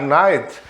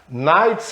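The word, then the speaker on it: knight: letra n apenas tan tan letra k em night essa é outra palavra que por não ser igualzinho na 100k nights em cá é noite agora night mesma pronúncia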